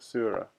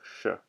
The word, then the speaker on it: szura: but the finisher oh it's sure not suit Sora okay sure yes of course it's Hungarian isn't it and s said you're saying it's pronounced like sure yes sure thank you